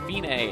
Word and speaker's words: fine: It looks like fine, but it's pronounced fine, and it means it's the end, the finish.